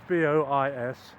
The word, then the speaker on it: Bois: a campsite called the Bois de Boulogne. So I want to pronounce B-O-I-S as Bois, but again I'm in a minority of one.